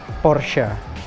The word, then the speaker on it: Porsche: Gue sendiri waktu kecil nyebut ini tuh sebagai Porsche, yang kemudian akhirnya gue nyebutnya Porsche. Dan sebenarnya ternyata yang benar itu adalah Porsche.